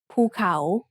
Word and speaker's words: ภูเขา: The second syllable has the initial consonant ขอไข่ with the vowel สระเอา The first syllable is mid-tone and the second syllable has a rising tone ภูเขา Let's write it together.